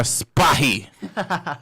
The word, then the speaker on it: Spahi: Cannot pronounce his last name because it's kind of... It's Spahi. You got it. Spahi.